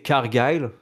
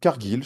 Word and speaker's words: Cargill: Et quand Charlotte Flair repart, elle tombe sur Jade Cargile, comment on prononce? Cargile? Je crois qu'ils disent Carglass? Cargill, je crois. Ah oui, voilà, c'est ça. Ouais, ouais, Cargill. Cargill? Cargill. Cargill. Jade Cargill. Cargill est là, Cargill Carglass.